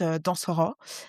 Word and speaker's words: Dansoko: Euh mon vrai nom de famille c'est Dansoko euh qui se prononce dansor avec un H en vrai.